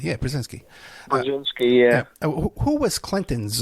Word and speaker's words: Brzezinski: Am I pronouncing that correctly? Brzezinski, yeah, Brzezinski.